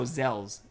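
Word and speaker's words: Xel: No, Zells. Zells? It's X-E-L.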